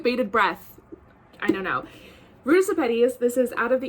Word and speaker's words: Ruta Sepetys: Ruta Sepetys, this is Out of the Easy, which is her second book.